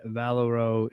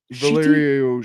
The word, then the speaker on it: Valerio: Number 12 by Chip Sedarski and Valero. Shitty. Valerio.